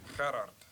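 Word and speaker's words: Gerhard: DeBeer give you a quick pronunciation help on his first name. Gerard.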